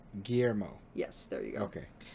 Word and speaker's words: Guillermo: It's Guillermo, by the way. Not I don't know how you were saying it, though. Guillermo? Yeah, that's not how you say his name. Guillermo. Guillermo.